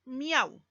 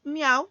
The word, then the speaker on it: miau: Fíjate en la palabra miau. I es una vocal cerrada. A es una vocal abierta. U es una vocal cerrada. Se juntan las tres para formar una sola sílaba. Y miau sería una palabra monosílaba.